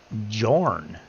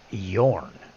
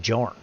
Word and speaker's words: Jorn: it's like yeah no they call him Jor flat out they pronounce it as a j not as a not